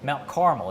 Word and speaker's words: Mount Carmel: uh Barry Dale Fidelis Mount Carmel caramel or Carmel you a caramel guy caramel okay Mount Caramel is how you say that one but but yeah caramel